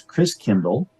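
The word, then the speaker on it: Christkindl: the Christ child and the German pronunciation of Christ child is Chris Kindle like Kinder Care kindergarten kind means child Chris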